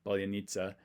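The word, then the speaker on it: паляниця: loaf of bread, and she actually gave me what she thought the Russian pronunciation would be. Polonitsa. But she wasn't too sure of it. She just knows this is how you say it in Ukrainian.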